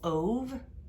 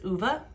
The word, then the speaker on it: Ove: assumed this was called ove like pronounced o for the name but it is uva because it's swedish and apparently that's how they pronounce that name but anyway like i